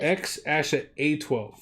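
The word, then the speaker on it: X Æ A-12: It's how you pronounce it. X-Asha A12. So, the Asha is this AE symbol.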